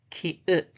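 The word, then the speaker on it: 키읔: The name is ki-ut, ki-ut, ki-ut, ki-ut, ki-ut. Only 2-stroke order, like 7. First, second. First, second. The pronunciation is ka, ka, ka, ka, ka.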